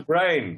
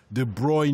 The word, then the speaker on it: De Bruyne: YouTube clip of Kevin do how did you pronounce him on the brain brain brain well he says this one of our listeners says there's a YouTube video of Kevin himself saying de bruyne now so he doesn't even know pronounce his